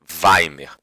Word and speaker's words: Weimar: Por favor, não diga Weimar. Weimar. Tá? A pronúncia seria mais ou menos isso. Tá? Weimar. Tá? E eu sei que aqui tem E e você fala A, aqui tem A e você fala E.